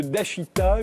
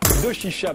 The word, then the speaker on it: Doshisha: Attaché à l'université de Dashita, je l'ai bien prononcé. Doshisha, pardon, à Kyoto, au Japon.